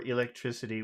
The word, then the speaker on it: electricity: So in that word electricity, which syllable, that's a pretty long word, which syllable has all of the sound? Electricity, electricity, electricity. Electricity. Mm-hmm. Electricity. Electricity. See? Tri, Elect. tri, tri.